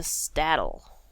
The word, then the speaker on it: Staddle: Hopefully, I finish Combe, and then we can move on to Staddle. Yeah, that's how you pronounce it. Staddle. Like saddle, but with the random T in there.